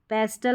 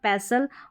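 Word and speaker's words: pestle: यहाँ पर हस्टल नहीं हसल, ब्रिस्टल नहीं ब्रिसल, कास्टल नहीं कासल, जॉस्टल नहीं जॉसल, पेस्टल नहीं पढ़ना पैसल, और इसको भी क्रिसमस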